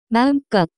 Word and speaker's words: 마음껏: As much as one likes, the pronunciation of this word is closer to 마음껏.